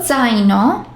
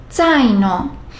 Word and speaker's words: zaino: Zaino. There aren't any two consonants in a row. However, the pronunciation of the are a combination of TS.